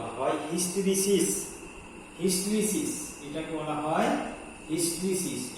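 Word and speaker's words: hysteresis: এটাকে বলা হয় হিস্টেরিসিস। HISTERESIS SIS এর বাংলা উচ্চারণ তাই হবে হিস্টেরিসিস।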